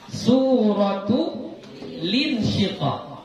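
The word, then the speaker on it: سورة الانشقاق: bacanya Ya suratu linsyiqa jadi lamnya itu enggak berbaris enggak berbaris sukun lagi ya karena apa Karena sudah dipindahkan baris kasrah Hamzah wasad itu kepada huruf lam yang sukun tadi jadi bacanya suratulinsyiqa surah apa lagi yang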